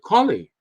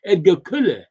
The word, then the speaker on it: Colle: The pronunciation of Edgar Colley's name is really Edgar Kulle. Edgar Kulle. It sounds more like Kulle than Colley.